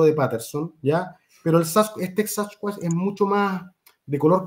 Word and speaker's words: Sasquatch: claro, Sasquatch, pero es que ellos lo decían Sasquatch, no Sasquatch. Como los decimos nosotros, dice Sasquatch, no, Sasquatch, una pronunciación, y decían que este,